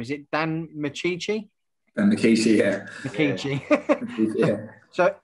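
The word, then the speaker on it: Micciche: And I'm not too sure how to pronounce his name. Is it Dan Michici?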